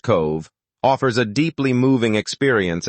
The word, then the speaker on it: Cobh: Cobh, pronounced Cove, offers a deeply moving